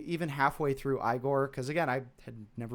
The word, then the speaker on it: Igor: or Igor in particular, I should quit saying Igor. I only say Igor because of the stupid fucking Young Frankenstein movie. No, it's pronounced Igor.